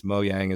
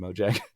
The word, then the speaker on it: Mojang: friends over there uh I think it's moang is the proper pronunciation but I always call him Mojang uh but there's super